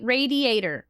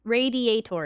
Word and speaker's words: radiator: Ra radiator. Radi is writer. Radiator. Radiator. Radiator. It does not rhyme with gladiator.